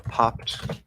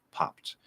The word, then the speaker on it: popped: e is silent um it's a t because the consonant before the ed is voiceless so kicked popped okay if i say